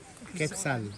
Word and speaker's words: Quetzal: One is parasitic, the other one is How do you pronounce it? Quetzal.